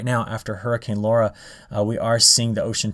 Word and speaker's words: Laura: do you see how they say to phonetically pronounce the word or the name laura now if you noticed in my previous videos i was saying lura and that's because they just recently made this